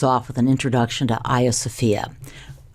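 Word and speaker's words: Hagia Sophia: with an introduction to a sopia which is by the way the Greek pronunciation of the Church of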